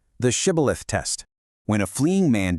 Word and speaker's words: Shibboleth: Because of strict regional dialects that developed over generations of these tribes living apart, an Ephraimite physically could not pronounce that heavy sh sound. Instead, he would slip up and say Sibboleth with a soft S.